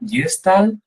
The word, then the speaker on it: Gestalt: Gente que la nombra como jestal. Al final Gestal es una palabra alemana, entonces cada uno la pronuncia un poco como lo siente, como le viene.